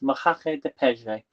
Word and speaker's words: Moqueca de Peixe: it is actually, well, it's pronounced Moqueca, and then I can't pronounce the second word. So Peixe, I think it is. It's Moqueca de Peixe, which actually means fish stew in Portuguese. Okay, I think I pronounced that right.